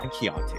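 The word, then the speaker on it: Keyonte: Yeah, Keontae.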